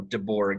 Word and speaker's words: DeBourgh: bergen and over time we just started saying it phonetically uh so deborah is how you say it wow this is